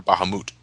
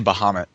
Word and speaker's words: Bahamut: bahit nope yeah wa is it baham or Bahamut whatever I always say Bahamut I did too and to me goddamn that's the way it's always going to be pronounced Bahamut